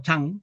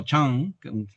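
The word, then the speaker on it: 禪: donde pasa de ser chan, que en realidad nosotros pronunciamos chan, pero es algo así como chang, no es una a ni una e, ¿no?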